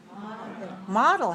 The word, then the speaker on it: model: Model has 2 syllables, and it's stressed on the first.